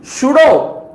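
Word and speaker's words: pseudo: मतलब क्या है ट्रू सुडो पी साइलेंट है यहां पर पी एस ई यू डी ओ सुडो का मतलब क्या है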